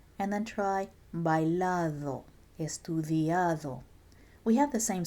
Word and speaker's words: bailado: The D here is not pronounced like a hard English bouncy duh. It's more like the TH in then or there. So put your tongue in between your teeth and say then and there, and then try bailado, estudiado.